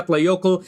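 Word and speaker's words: Eyjafjallajökull: letter yeah yeah because the actual pronunciation I have to practice this and look it up is a F yokels okay so for any Icelandic people that are listening you can grade my pronunciation but that's how it's pronounced it's a F yeah play yoco and this volcano erupted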